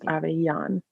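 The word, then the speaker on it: Avellan: uh underscore aveyan it looks like Avalon a-v-e-l-l-a-n but it's pronounced Ava yon like you're gonna have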